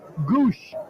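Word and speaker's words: Gwosdz: them some character though gwos DZ is the spelling for the pronounced Goose well his nickname is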